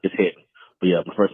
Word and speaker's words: Hedden: So yeah, Rashad, you've been saying it right. It's Hedden.